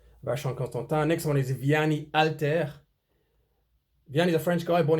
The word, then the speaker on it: Vianney Halter: The French don't pronounce H at the start of a name or a word, for that matter. Vianney Alter.